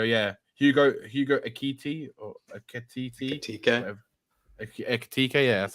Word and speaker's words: Ekitike: Yeah, Hugo Ekiti or Ekititi, Ekitike.